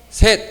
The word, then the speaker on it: 셋: 셋. 자, 여기 발음 주시 조심하셔야 돼요. 쉣. 아니에요. 네. 셋셋 셋이에요. 셋.